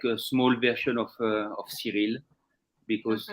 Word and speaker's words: Cyrille: And sometimes they pronounce it as Cyrille. Yes, that's the American version, Cyrille. Yeah. Cyrille. So I all the time tell them, it's French version is Cyrille.